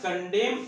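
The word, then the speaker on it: condemn: में बोलेंगे I never कंडेम anyone. I never कंडेम anyone. कंडेम में एन जो होता है वो साइलेंट होता है, इसका मतलब होता है निंदा करना।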